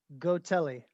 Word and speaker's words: Gotelli: now how do you say your last name go telly go telly okay i didn't want to pronounce it wrong yeah no worries yeah gino